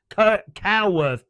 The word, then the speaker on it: Coworth: It's pronounced cow as in animal. Moo. No cows there. Coworth Park.